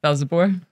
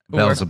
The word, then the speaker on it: Velzeboer: Velzeboer. Velzeboer.